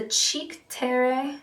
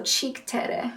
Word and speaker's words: Cheek Terre: It's the Cheek Terre. I think it's supposed to be a play on like Cinque Terre, but it's spelled cheek, so Cheek Terre.